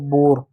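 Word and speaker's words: bore: जैसे शब्द है बी ओ आर ई ओ आया ओ आ गया ओ के बाद क्या कोंसोनेंट है हांसोनेंट है क्या इ किसी भी शब्द के अंत में इ होता है तो इ साइलेंट होता है इस बात को याद रखिएगा तो बी का ब हो गया ओ का ओ की मात्रा हो गया आर का र हो गया हो गया बोर ठीक है उसी प्रकार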